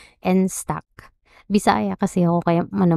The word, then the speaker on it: Enstack: Itong instock ha ano ano tamang-pronounce nito? Nstock.